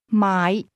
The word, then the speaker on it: 買: My my my to buy is pronounced with a low rising tone.